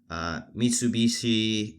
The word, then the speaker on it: Mitsubishi: But anyways, it was developed by Mitsubishi Industries. I believe that's how you pronounce it.